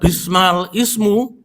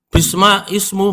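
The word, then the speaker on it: بئس الاسم: Lah bacanya bukan bismal ismu, bisma ismu.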